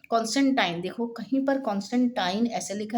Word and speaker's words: कॉन्स्टेंटाइन: तो काफी समय के युद्ध के बाद 312 ईस्वी में कॉन्स्टेंटाइन। ठीक है? ये सही प्रोनाउंसिएशन है। कॉन्स्टेंटाइन पूरे साम्राज्य का एकमात्र शासक बन गया।